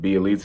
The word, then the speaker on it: Bjelica: Nemanja Bjelica, is that how you say it? Or is it Bjelica? Is that what? There you go. You got it. Yeah, I'm not sure the pronunciation.